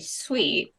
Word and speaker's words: Suite: And it's spelled S-U-I-T-E, sweet, like not S-W-E-E-T.